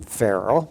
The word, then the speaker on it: Farel: But a man by the name of William Farel, that's how we would pronounce the first name now in our time, but a man by the name of William Farel.